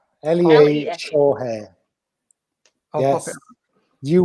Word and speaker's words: Lee Shaw: My Insta is at Lee Shaw Hair. It's Lee as it's spelled on the screen. SHAW. Lea Shaw Hair.